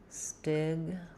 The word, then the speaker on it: stigmatizing: So we have first syllable stress here, stigmatizing. Letter I says the I sound. Stigma. Letter A is going to be the schwa. Stigmatizing, we have secondary stress on the tizing syllable, which means the T is going to be a true T, tizing. The I is going to say a clear vowel, the I diphthong.